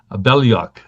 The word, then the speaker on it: Belyak: Um, Interestingly enough, his name is pronounced very much like mine, Belyak.